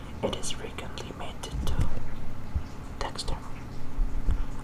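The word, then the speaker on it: Dextre: It is frequently mated to Dexter, or Dexter, if you pronounce it in the French way, which is short for Special Purpose Dexterous Manipulator.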